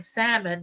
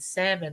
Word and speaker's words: salmon: the K is silent just like in Salmon the L is silent oh no you wasn't telling the older folks that the L and salmon was silent so I